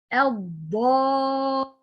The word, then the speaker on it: الضالين: الضالين. Okay, where is the letter of mad here? Letter of mad is alif, free of vowel. This alif second, preceded by fatha, okay, followed by mushaddad.